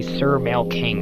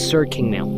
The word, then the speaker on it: SirKingMale: And don't fucking call me Sir Male King. I don't like to be called that way. It's SirKingMale. Say it correctly, you fucking retard.